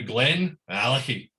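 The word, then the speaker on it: GlenAllachie: Billy likes to change the first letter after Glen to a capital A. So it's now Glen Alicky, right? So it's you really pronounce the A in it.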